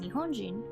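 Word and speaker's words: 日本人: are also pronounced the same this word is pronounced Nihonjin with the first ii kanji retaining their pronunciation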